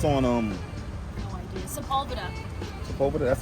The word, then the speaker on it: Sepulveda: Sepulveda. over there. That's how you pronounce it.